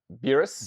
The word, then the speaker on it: Beerus: you say his name B burus is uh beerus beerus beerus beus beus yes um what did